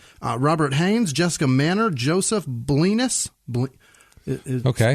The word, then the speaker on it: Blenis: Robert Haynes, Jessica Manor, Joseph Blenis. Okay. It's probably Blenis. Blenis. Right, but it's spelled like penis with blow. Well, that's all right. It's Blenis. Penis.